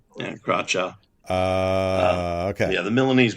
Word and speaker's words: Carroccio: Carroccio, is that right? Carroccio, yeah. Carroccio. Yeah, Carroccio.